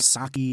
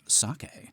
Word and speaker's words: sake: you know they're on their second bottle of Saki which you know be elub tells Lucifer it's actually pronounced sake and Lucifer's like wow be elub how how